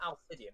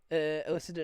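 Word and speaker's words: Alycidon: It's not Alcidian, it's Illiciden, you twat.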